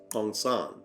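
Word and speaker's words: San: Typically pronounced Sonn, the Sonn are monogamous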